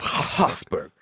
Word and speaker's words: Habsburg: You gotta say it like this. House of Habsburg. I'm gonna front load this. I learned it as Habsburgs.